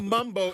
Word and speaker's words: Mumbo: a Mumbo Mambo yeah so I said Mambo because it's spelled Mambo but the Mumbo the real the original Mumbo is spelled m-u-m they spell it m-a-m so you know and